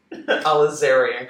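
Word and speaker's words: alizarin: Crimson the other one's aizar alerian alerian Crimson if you want to pronounce it right um you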